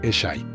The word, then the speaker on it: Eshe: Un pequeño detalle curioso para los australianos es que uno de los personajes se llama Eshe y se pronuncia Eshy.